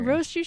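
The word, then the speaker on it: Rosechu: Rosachu's trainer. Rosachu. Right, Rosachu. there's it's a 3-syllable name.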